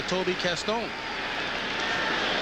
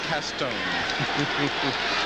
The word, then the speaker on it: Caston: Toby went down to New Orleans, sort of researched his family roots, and figured out the proper pronunciation of his last name was Castone.